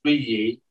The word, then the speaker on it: Zhiyi: which is Chigi, and sometimes I'll try to pronounce it the Chinese way, which is Zhiyi.